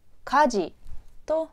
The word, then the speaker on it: 火事: のかです火曜日のかこれは火事と読みます家事火事です家事です燃えてい